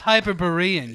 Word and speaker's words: Hyperborean: Hyperborean? It's It's Hyperborean. you it's fucking Berean. plebe.